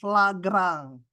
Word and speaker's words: Lagrange: ini namanya rumus pelipat lagrang ya tadi saya lupa menyebutkan ini ini ada lagrange nulisnya bacanya lagrang gitu ya Ini namanya maksimum minimum